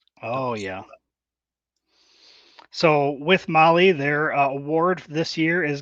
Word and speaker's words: Mahle: And for all the podcast listeners out there, Molly is spelled Mahle. Oh, yeah. So with Molly, their award this year is going to be for the toughest roadside repair.